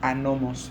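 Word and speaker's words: ἄνομος: La palabra maldad en griego es una palabra que se pronuncia anomos, es una palabra compuesta.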